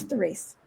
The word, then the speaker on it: Therese: Perhaps we'll start with Therese. Sure. And by the way, it's Therese.